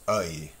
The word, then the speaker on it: œil: French as well, is œil, œil. It's like and E put together and becomes œil. And it's spelled with an E-U-I-L.